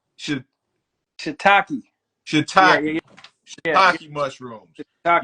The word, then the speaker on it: shiitake: What how you pronounce it? Shiitake. Shiitake.